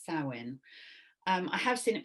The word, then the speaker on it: Samhain: is from celtic samhain it's spelt s-a-m-h-a-i-n but pronounce sarwin um i have seen it for that sawwin um but sowin is the one i should use tonight and